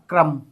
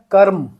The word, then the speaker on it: कर्म: क्रम। अब दोनों में मेरे उच्चारण में आप ध्यान दीजिए। एक में मैंने करा है कर्म क्रम र बहुत थोड़ी मात्रा के लिए क्योंकि अधूरा है।